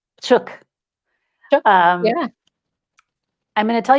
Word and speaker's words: Psiuk: Allie Psiuk. Psiuk.